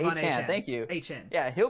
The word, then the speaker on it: Achane: Achane, thank you.